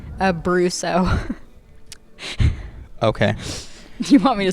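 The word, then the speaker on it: Brousseau: Uh, Brusso. Okay. You want me to spell it?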